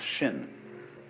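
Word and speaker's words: 心: Chinese mind is um this word pronounced shin and shin is here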